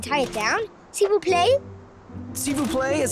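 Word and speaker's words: s'il vous plaît: the boat and tie it down seeu play SIU play is how you say please in French of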